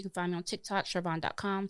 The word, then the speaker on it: Sharvon: AKA not Sharon. Spell it out for people because Yes, people are gonna think it's Sharon.